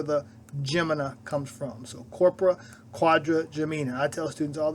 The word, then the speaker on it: corpora quadrigemina: have challenges pronouncing this let's break this word down Quadra quod for Gemini Gemini twins the person who named the structure thought it looked like two sets of twins now you may be